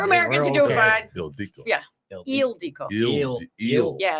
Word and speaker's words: Ildiko: Eldico eel. Yeah. It's like the pronounces is on the front part.